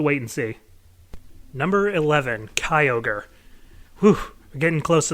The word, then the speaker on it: Kyogre: did you know that in the Pokerap for Gen 3, they actually called this thing Kyogre, and that messed with my head for a while? Yeah, I'm pretty sure it's pronounced Kyogre. But anyway, so Kyogre is